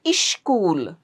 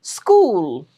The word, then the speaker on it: school: Single search ch select not select select school not ish school don't make it as I is that's wrong it's school it's a consonant uh cluster or blend Cool.